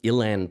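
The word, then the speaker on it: uilleann: It's called the um Ilan Pipes and it's spelled UI N L E A N.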